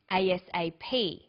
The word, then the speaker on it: ASAP: read-only memory notice that each letter in the abbreviation is pronounced separately but the last letter is pronounced more strongly because it carries the primary stress so we say us a ASAP ABC and TV listen